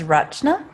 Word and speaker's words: Rachna: I apologize actually no actually the correct pronunciation is rachna so it's a it's phonetically r u t C hna A RNA okay that's phonetically how you say it but because it's